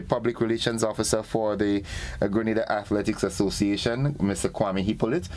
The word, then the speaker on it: Grenada: It's Grenada. It's not Granada.